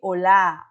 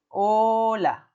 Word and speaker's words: hola: Porque a gente fala de hola, hola, não de olá, olá, como em português.